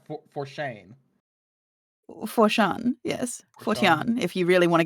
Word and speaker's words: Phortáin: oh wait is it forain or is that pronounced for forchain foran yes foran if you really want to get really technical